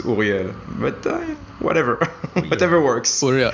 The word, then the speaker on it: Ouriel: I'm French and Israeli, so the right way to probably say it is Ouriel.